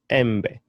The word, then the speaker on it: embe: The vowel E is pronounced as E. Elephant, embe, embe. For example, the word bed, elephant, embe, which is a mango.